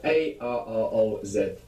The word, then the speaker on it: arroz: So in Spanish we have A-R-R-O-Z.